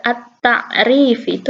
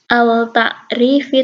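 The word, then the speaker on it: التعريف: ke huruf tak at-ta'rif bukan al-ta'rif I tapi at-ta'rif I itu kalau Alif Lam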